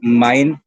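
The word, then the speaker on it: mein: Okay, माइन की एम ई आई एन, इसकी pronunciation है माइन। इंग्लिश वाला एम आई एन ई, माइन।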